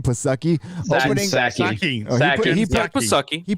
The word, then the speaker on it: Psaki: It's a Saki. No, I'm spelling it. I'm reading it how he spelled it. That's how it's spelled.